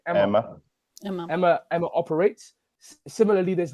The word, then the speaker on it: EMMA: And there are loads of steering committees similar to how EMA, sorry, how do you pronounce it? Emma.